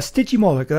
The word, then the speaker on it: Stygimoloch: kind of spikes and things so yes a sticky molecule that's how you pronounce this one now the interest think about